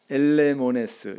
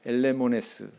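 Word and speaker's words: ἐλεήμονες: 긍휼히 여기는 자라고 하는 이 뜻의 헬라어 단어는 엘레모네스, 이렇게 발음합니다. 엘레모네스.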